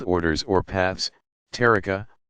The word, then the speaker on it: tariqa: Spiritual guides of the various Sufi organizations called orders or paths, tariqa, pronounced ta'ariqa.